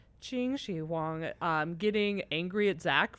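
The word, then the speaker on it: Qin Shi Huang: So, uh, I remember profoundly one of my biggest laugh out loud moments was when, how do you say the first emperor's name? Is it Quinn Xi? Uh, Chingi Wang.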